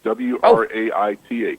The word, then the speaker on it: Wraith: it's rth like Faith w r a i t h rate r a t r a t h w r a i t h rate it rhymes with faith okay got it h